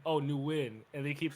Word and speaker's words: NUWIN: So people in my city would be calling me calling me new like like they saying, "Oh, so your middle name is Newin." And I was like, "No, it's pronounced win." Oh, Newin.